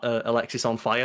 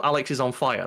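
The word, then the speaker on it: Alexisonfire: Oh, that time I was in a pub and some guy had Alexis on fire tattoo and oh, Alex is on fire. That's the joke. No, it's Alexis on fire.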